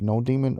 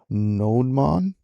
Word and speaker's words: nodemon: I don't know if you pronounce it node demon or nodemon. I think it's node demon.